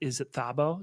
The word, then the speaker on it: Thabo: Emmy and I'm probably going to say the name wrong, so please correct me. But is it Thabo? Is that how you say his name, the Yes, character's yes. name? Tabu.